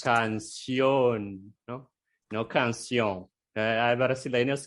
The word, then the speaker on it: canción: Nosotros solemos poner más un sonido más nasal, canción, por ejemplo, como italiano, italiano, italiano, solemos nasalizar la vocal siempre. Y en español no exacto. puede, ¿no? Porque las vocales no se nasalizan en español, ¿no? No es como Son siempre no es nasal, así como portugués.